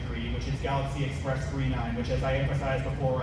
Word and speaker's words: 999: which is Galaxy Express 39, which, as I emphasized before, I know it looks like 999. It's pronounced 39.